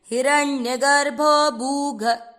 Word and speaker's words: हिरण्यगर्भो: हिरण्यगर्भो हिरण्यगर्भो भूगर्भो माधवो मधुसूदन। यहाँ पर जो हिरण्य, य में भी अ मिक्स करना नहीं भूलना।